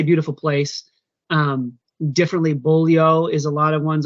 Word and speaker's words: Beaulieu: Yeah, c'est Tim, il dit, ben non, moi je le prononce Beaulieu, puis c'est ça, je le montre comme il faut à mes enfants, ça vient de mon grand-père, puis c'est important, parce que les autres façons sont pas correctes. Mais c'est ça, il y a des gens qui vont le prononcer Beaulieu, ou autre variation anglicisée du nom.